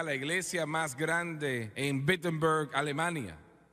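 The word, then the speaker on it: Wittenberg: Se acerca a la iglesia más grande en Bittenberg, Alemania. O no, perdón, empieza con una W, pero se pronuncia como una B.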